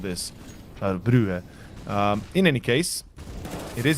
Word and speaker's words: Brugge: Winner faces off EC Brugge. Okay. Some better pronunciation there over. No longer Bruges.